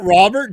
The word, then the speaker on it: Robert: does that not fit Robert Joe Exotic I mean dude your thing is not tiger you can do it what's it's alligators the French way to pronounce Robert like Rober Rober yeah I love exotic Rob